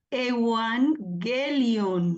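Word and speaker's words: εὐαγγέλιον: Se lee Evangelion. Recuerdan que la gama se pronuncia como una G. Pero excelente porque recordaron que cuando hay dos gamas seguidas, la primera gama se pronuncia como una N.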